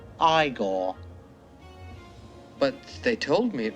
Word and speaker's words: Igor: Igor? No, it's pronounced Iiggore.